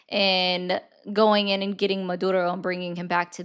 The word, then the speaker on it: Maduro: Okay, so why do you do this liberal Maduro? Why do you roll your R's on that?